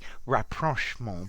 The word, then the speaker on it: rapprochement: Rapprochement. Rapprochement. I have heard this pronounced rapprochement as well, so I think that's also possible, but I would prefer the French pronunciation.